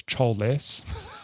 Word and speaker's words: Chols: It's funny because it's called Chols, like it's written Chols, but they pronounce the glove as Cholless.